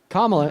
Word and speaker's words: Kamala Harris: The actual worst thing that Kamala has ever done. Kamala is how you pronounce her name.